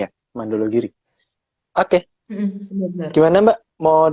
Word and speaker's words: Mandala Giri: Bener kan nih bacanya ya? Mandologiri.